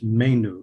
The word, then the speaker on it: Manu: But it's Manu, like the month of May and something new.